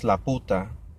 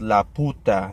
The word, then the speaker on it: Laputa: read it I pronounced Laputa which means the or the in Spanish but it's not la puta they don't put emphasis on the poo it slap you pew so Laputa and yeah when I